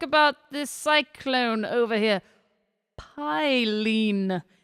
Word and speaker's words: Phailin: this Cyclone over here Pine is I believe how it's pronounced I looked it up